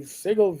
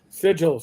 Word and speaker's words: Sigil: the basket of the Sigle VTT, which wasn't going to do what they needed it to do. Sigil, sorry, Ra Ra is correcting my uh pronunciation. Is it I'm a New York I'm I'm a New Yorker.